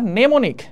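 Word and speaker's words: mnemonic: balance দরকার এখন আমরা নেমনিক হ্যাঁ নেমনিক বানানটাও কিন্তু আমাদের ইম্পর্টেন্ট একটা বানান নেমোনিক মানে এম টাকে এখানে পাত্তা দেয়া হয় নাই আর কি আচ্ছা নেমনিক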